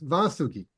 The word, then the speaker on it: Vasuki: you very much and apologize for mispronouncing your name I know it's vasuki yes well you know